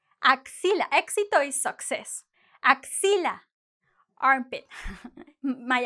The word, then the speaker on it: éxito: But really, the proper sound is éxito, like the K plus the S.